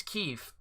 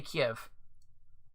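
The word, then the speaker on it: Kyiv: the corners and no guys it is keev Kev is if you speak Russian last time I checked keev is a city in Ukraine so we use the uh Ukrainian official the Ukrainian language pronunciation if it was still the Soviet Union yeah I'd say Kiev so this is the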